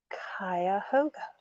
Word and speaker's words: Cuyahoga: Oh, Cuyahoga.